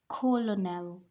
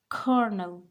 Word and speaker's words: colonel: not Colonel this is Kernel kernel there is no l in the middle I know you can guys see the L but the L is silent here this is Kernel kernel